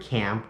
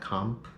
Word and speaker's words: Camp: And make sure, guys, to pronounce the word camp, not comp, okay?